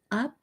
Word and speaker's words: Upsychelly: Um, and it is Upcychelly. Well, at least that's how I'm pronouncing Upcychelly. Um, it sounds like upcycling without the engine.